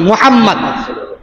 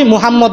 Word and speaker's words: মুহাম্মদ: ভাবে বলতে পারি না প্রত্যেকটা মুসলমানের নামের শুরুতে ব্যবহার করতে হয় মোহাম্মদ মোহাম্মদ উচ্চারণ করতে হয় আমরা উচ্চারণ করি কি নাম বাংলা ভাষায় উচ্চারণ করি আমার নাম কি মোহাম্মদ অমুক মোহাম্মদ এবং মোহাম্মদ মধ্যে পার্থক্য আমরা বুঝতেছি না নিজেকে নিজে সবসময়